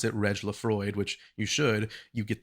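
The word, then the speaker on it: Le Froid: I think some people pronounce it Lefrade, like a French sort of pronunciation, but if you pronounce it Reg Lefroid, which you should, you get the hint that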